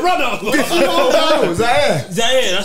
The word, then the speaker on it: Zaire: Zaire.